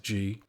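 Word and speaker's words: gee: watches vacant motor cars a ghee or G it is pronounced G the accomplice of a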